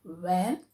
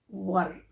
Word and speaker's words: were: how to pronounce this it's not where we should pronounce this as were we were neighbors.